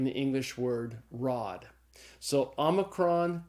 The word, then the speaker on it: omicron: vowel it's the Omicron so Omicron is pronounced like this short o in the English word not after Omicron comes P